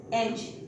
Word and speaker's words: edge: Now next word is एज, EDGEH।